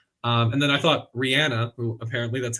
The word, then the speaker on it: Rihanna: I welcome it um and then I thought Rihanna apparently that's how you say her name correctly